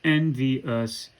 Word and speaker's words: envious: We're going to elide the consecutive vowel syllables in the word envious, right? So envious becomes envious. Envious.